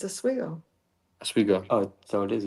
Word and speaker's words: Oswego: It's Oswego. Oswego. Oh, so it is Oswego. This is how you pronounce it. This is from my grandfather, who was quite the funny man.